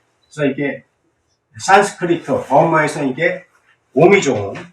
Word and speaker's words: 옴: 그래서 이게 산스크리트, 버머에서 이게 옴이죠. 원래 발음이 옴도 아니고 음도 아니고 중간 발음이랍니다. 최초의 소리, 소리의 소리, 만물을 일깨우는 소리래.